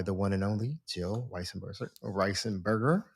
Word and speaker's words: Weisenberger: And again, the book is a Prediabetes, a Complete Guide by the one and only Jill Weisenberger. How did I pronounce that? How do you pronounce it? Weisenberger.